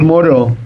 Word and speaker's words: Moreau: Se escribe diferente. Es Moreau. Claro. Es Moró.